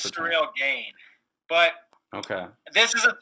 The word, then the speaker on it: Cyril Gagne: I honestly don't know how to pronounce it. It's Cyril Gagne.